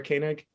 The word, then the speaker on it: Koenig: Did I pronounce that incorrectly? Did I do the Sarah Koenig? Yeah, Kula she's Koenig. Koenig.